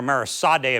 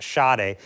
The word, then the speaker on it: Sadè: My apologies to Mara calling her Marisade a few times. It's me Shade. It's spelled S A D but pronounced Shade.